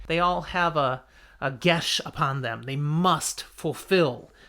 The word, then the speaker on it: geas: How do you pronounce this? And I was like, are you kidding me? Are you kidding me? Gesh. That's how you pronounce it. Gesh.